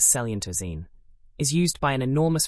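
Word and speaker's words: coelenterazine: Coilentine pronounced roughly as selentoine is used by an enormous variety of marine organisms.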